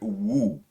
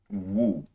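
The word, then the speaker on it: 無: please bear with me it's the word woo so it's w u with an accent woo and then the word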